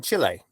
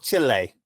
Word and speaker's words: Chile: and the one in Chile which uh the people down there always are very insistent that you pronounce it Chile and not Chile right yeah they're a